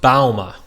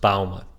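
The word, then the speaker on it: Bouma: My last name is pronounced Bauma, like the bow of a ship, ma. It's Dutch, so it's pronounced a little awkwardly, but it's pronounced Bauma.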